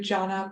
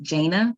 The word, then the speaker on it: Jaina: will now move to John public Witness hi my name is actually pronounced jaina um and I am